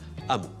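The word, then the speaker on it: hameau: dictionnaire de l'Académie française avec la prononciation moderne amot.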